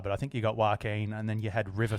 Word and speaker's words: Joaquin: how do you say his name yeah why joaquin that's right yeah i'm such a i hope